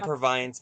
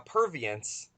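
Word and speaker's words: Purviance: and you know now of course and the provine's makes her first or a pervious as I've been told is the correct pronunciation and there's a film like I said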